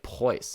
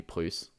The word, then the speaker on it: Prus: You often see it spelled EU in the US and pronounced like Preuss instead of Prus, but I think it should be Prus.